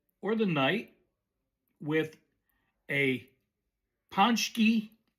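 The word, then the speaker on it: pączki: They probably will end the day or the night with a ponchki spelled like fazaki p a cz p a cz z ki but pronounced ponchki.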